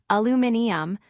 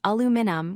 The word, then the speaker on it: aluminium: British speakers pronounce it with extra syllables, aluminium, while Americans say aluminum with fewer syllables.